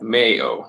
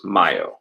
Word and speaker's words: Mayo: May is a new month it looks like Mayo like what you put in your sandwiches Mayo but it's actually pronounced Maya right so please don't say it's a Cinco